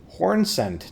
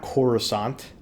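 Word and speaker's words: Hornsent: the other corpses um horn Cent not corusant they sound totally different oo a shadow realm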